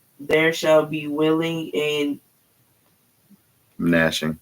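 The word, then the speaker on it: gnashing: shall be willing and nashing nashing I was about to pronounce the G of teeth now pause right there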